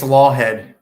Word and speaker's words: Laughead: I got to ask you, how's the last name pronounced, brother? Yeah, it's Laughead.